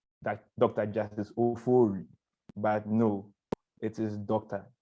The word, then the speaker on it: Ofori: Justice Ofori, but no, it is Dr.